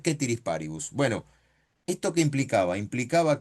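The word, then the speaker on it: ceteris paribus: ese es el mecanismo de análisis, te dicen setiris paribus, te escribían en el pizarrón, pero se pronuncia quétirisparibus.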